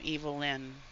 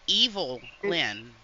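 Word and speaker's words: Evil-Lyn: l-h l y n evilin hello hello no it's evil Lyn oh okay okay off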